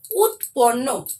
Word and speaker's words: উৎপন্ন: মুখে বলতে হবে কিন্তু উচ্চারণের সময় উৎপন্ন হবে খন্ড হবে না কিন্তু যখন বানানটি পড়বো